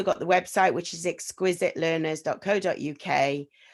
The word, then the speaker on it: Xquizit: i chose it um it's x and it's quiz as in you know you do lots of quizzes and you help children